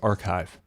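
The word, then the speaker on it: arXiv: driver um to call RX a RX I it's pronounced archive um there's probably you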